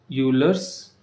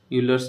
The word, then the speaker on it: Euler: और एक एग्जाम्पल है यूलर्स नंबर। तो स्पेलिंग EULER, यूलर्स नंबर, जिसको हम बोलते हैं ई बोलते हैं।